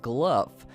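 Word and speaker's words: Glough: name is spelled GL 0 ugh but essentially pronounced glove and he's that evil gnome involved with the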